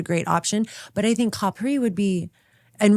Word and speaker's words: Capri: option but I think Capri would be and we did ask how to say it and they said it's copper although they don't